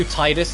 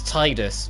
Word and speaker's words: Tidus: since Ratchet and Clank 2, and who's also Tidus in Final Fantasy X, you know, the main character of Final Fantasy X.